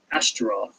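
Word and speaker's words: Ashtaroth: all be king of Vashon which was at astroth that's spelled a s h t a r o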